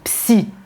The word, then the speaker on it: psy: Attention, en français, on prononce bien le P. On dit psy, psychanalyste, psychologue, un psy, on dit souvent je vais chez le psy.